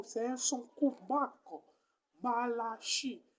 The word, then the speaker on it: Malachie: Marc, Malachie, la dernière syllabe, c'est chi.